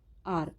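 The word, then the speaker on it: hour: ऐसे ही नेक्स्ट हम देखते हैं आर। ठीक है, यहाँ पे भी एच क्या होता है? साइलेंट होता है, तो इसीलिए यहाँ पे ओ की साउंड आ रही है, तो यहाँ हमारा आर्टिकल क्या आएगा?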